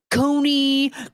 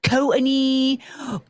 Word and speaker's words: Courtney: You know how many times I've been called Coney, Courtney, Corny, all this crap?